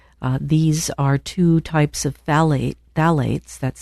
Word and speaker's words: phthalates: These are two types of phthalates, that's spelled Phth.